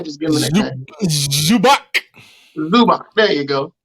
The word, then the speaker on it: Zubac: The guy that won that nobody can pronounce his name right. And we all just give him a nickname. Zubac. There you go. Zubac.